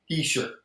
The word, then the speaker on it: Hischier: How do you pronounce it? Hischier. Heisher.